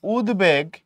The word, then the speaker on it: উদ্বেগ: আবার তুমি যখন বলতেছো উদ্বেগ, তুমি এখানে বফলার উচ্চারণ বহাল রাখো, উদ্বেগ এখানে বফলার উচ্চারণ